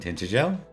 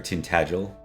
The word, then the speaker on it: Tintagel: That was the episode of Terabil and Tintageel uh or Tintagel as it's properly said and I will try to remember that and say it properly.